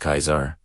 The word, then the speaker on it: Caesar: Like in the name Caesar originally pronounced Kaisar and the G sound.